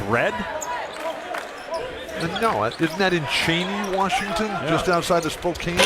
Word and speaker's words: Cheney: Cheney. How do you spell it? Is there a double E? C-H-E-N-E-Y. Okay, there's 2 E's, but they're not consecutive.